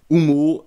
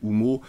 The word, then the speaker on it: Oummo: sujet est arrivé que le u en en espagnol se prononce ou tout simplement donc la